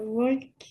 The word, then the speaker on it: walk: le dis comment euh walk ouais walk donc là le le l ne se prononce pas W ok W ok